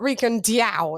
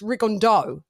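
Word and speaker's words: Rigondeaux: Rick and Rick and it's not Rick and diao it's rigondo that's not how you pronounce it it's Rick and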